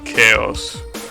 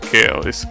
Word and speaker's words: Chao: I mean, other than some Chaos, right? And other than Chaos himself, right? Wait, those are actually not pronounced Chaos. It's pronounced Chao, right?